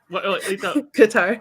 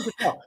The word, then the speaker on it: Qatar: Qatar. Qatar. It's catering Qatar. I am not mispronouncing it. That's how it's pronounced. And if you watch one station, it's pronounced Qatar. If you watch another place, or Qatar. Like I'm not mispronouncing it. It's pronounced 3 different ways.